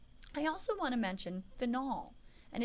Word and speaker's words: phenol: also want to mention phenol and it is pronounced Fen phenol is what happens